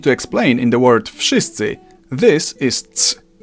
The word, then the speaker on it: wszyscy: the hell they want, in Polish you simply pronounce each sound one after another and you get the word. W, sz, I, sy, cy, I. Wszyscy.